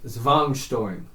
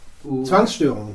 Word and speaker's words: Zwangsstörung: if I can say it correctly, it's like Zwangsstörung. It's like Z-W-A-N-G Zwang? S-T-O with the Zwangsstörung. Yes, that's what Zwangsstörung.